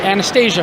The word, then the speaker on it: Anastasia: So I'm here now with Kandyse McClure, and we know you best from Battlestar Galactica, and Anastasia from Battlestar.